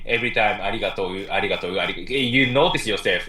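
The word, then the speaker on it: ありがとう: arigato, it's hard to say every time, you know, like so people just say arigato, you know, like it's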